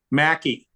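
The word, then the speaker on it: Mackay: Alaska flight but Robert how do you say the name of that trophy Mackie right it's the Mackie trophy so for years everywhere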